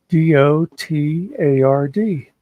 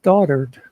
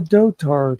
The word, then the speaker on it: dotard: the news said he called him a dotard d o t a r d and the first time I heard them say it I thought to myself I could swear that is pronounced daughtered but then all day I kept hearing all